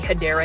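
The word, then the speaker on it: Hedera: doing plant shopping videos I was actually saying hedra Helix when it was actually hadera Helix it's um a long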